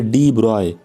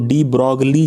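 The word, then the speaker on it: de Broglie: कि जो गाइड है डिब्रॉय एक बहुत ही ग्रेट साइंटिस्ट उतरे हैं इसको स्पेलिंग हिसाब से अगर बात करें तो डी ब्रोग्ली जैसा लगता है ओके इसके बहुत सारे लोग उसको डी ब्रोग्ली ही कहते हैं बल्कि कई मर्तबा और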